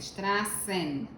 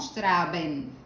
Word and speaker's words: Straßen: Recordemos de inmediato este símbolo, que no es una B, sino que esto es una doble S. Esto es una doble S, representa una 2S. Straßen, no Straben, sino Straßen.